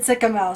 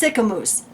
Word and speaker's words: Sicamous: Well, it's spelled like mouse, so I would have said Sycamouse. So I appreciate it. It's Sicamous.